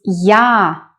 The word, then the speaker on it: я: The next one is я. It's similar to a, but we start with y sound.